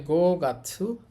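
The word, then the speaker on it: 五月: এটা হচ্ছে মাসের কাঞ্জি উচ্চারণ হবে গাছু তাহলে গো গাছু পাঁচ মাস পাঁচ নাম্বার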